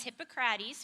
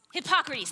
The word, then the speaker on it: Hippocrates: There was a Greek philosopher, his name was Hippocrates, or that's not how you say it. Hippocrates, thank you. I couldn't remember how to say it, Hippocrates.